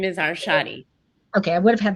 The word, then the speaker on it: Arshadi: And you say your last name, because I feel like I mispronounce everybody's my last name is Arshadi.